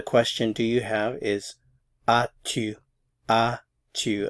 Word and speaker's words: as-tu: So the question, do you have, is as-tu. As-tu. Again, the S is not pronounced.